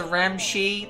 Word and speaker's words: Ramscemi: let's shake hands hello it's pronounced the ramshi the ramshi the way is it ramshammy around machine oh we